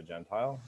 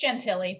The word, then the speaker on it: Gentile: Well, welcome to the Q&A session for Esports Management and Emerging Discipline by Gentile. Is that how you pronounce it? It's Gentili, but I answer to everything.